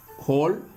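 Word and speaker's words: whole: அது என்னென்ன பாருங்கள், ஹூ, ஹூஸ், ஹோல், ஆன்சர், இந்த மாதிரியான இடங்கள்ல எல்லாம் டபிள்யூ சைலண்ட் ஆகுது. நல்லா பார்த்துக்குங்க. அதாவது ஹூ, ஹூஸ், ஹோல், ஆன்சர், இந்த மாதிரியான வேர்ட்ஸில் டபிள்யூ சைலண்ட் ஆகுது.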